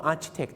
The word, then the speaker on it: architect: Architect Architect ฝรั่ง ก็ Architect Architect คือ อะไร อัน นี้ จะ เป็น สี C เป็น ค ควาย ครับ แล้ว ก็ ต้อง